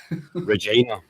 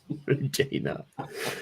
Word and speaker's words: Regina: He's from the city that rhymes with fun, Regina. Regina.